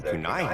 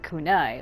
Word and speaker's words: kunai: The way he keeps saying kunai, like it sounds like the way he's saying it is K-O-O like dash N-A-I. That's not how it's said, my man.